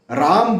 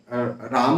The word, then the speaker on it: राम: हो कर के और कोई बोलता है नहीं कृष्ण होगा कृष्ण राम होगा रामा नहीं होगा